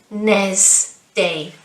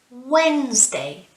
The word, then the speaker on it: Wednesday: with wednesday it's not wednesday no wednesday wednesday so it's almost if we don't pronounce the duh okay wednesday wednesday good